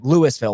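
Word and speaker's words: Louisville: half Nebraska Force yeah Lewisville we pronounce our s we're not Hicks that's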